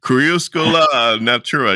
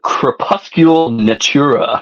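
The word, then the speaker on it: Crépuscule Natura: say the name wrong cusa Natura you could probably say better than me you're bigger U fan right n oh you say crepuscule crepuscule Natura yeah I need to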